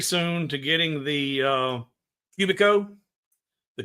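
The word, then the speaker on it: Cubiko: I'm looking forward very soon to getting the uh Cubico. The Cubico is the small CNC.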